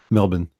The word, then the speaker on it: Melbourne: it's not like Sydney's like Melbourne Melbourne is how we pronounce it right yeah man funnily enough mr.